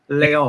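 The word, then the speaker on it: Les Halles: Deniz El Ghazi says Les Hall is pronounced Leol.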